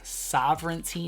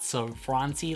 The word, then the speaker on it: Sovereignty: Also, they gave us some tea, all right, which is just a reminder that they are Sovereignty, not Sovereignty, like some people have mispronounced it.